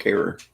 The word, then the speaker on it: Harrer: It's Harrer. oh, Rhymes with terror.